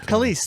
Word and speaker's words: Kelis: Kelis, thank you.